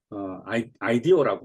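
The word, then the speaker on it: IDEO: 자, 아이디오라고 발음하네요.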